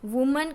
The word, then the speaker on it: women: उसका बन जाएगा E, तो वुमन का प्लूरल होगा WOMEN वीमन। देखो बच्चों यहाँ पे आपको खास प्रोनाउंसिएशन में ध्यान रखना है, प्रोनाउंसिएशन पूरा चेंज हो जाएगा। अगर सिंगुलर फॉर्म में हो तो वुमन और प्लूरल फॉर्म में हो तो वीमन, ये बच्चों खास आपको याद रखना है।